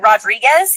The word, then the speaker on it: Rodrigue: And um just like the same if you see somebody whose name looks like Rodriguez, it's Rodrigue.